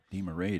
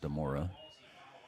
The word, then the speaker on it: DeMarais: See, it looks like DeMarais to me, but we were told to pronounce it DeMora.